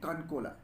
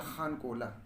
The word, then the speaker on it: Khankola: cannot pronounce he, so they used to pronounce Khan as Khan. Kankola. So the Khankola became Kankola, which is meaningless and ridiculous.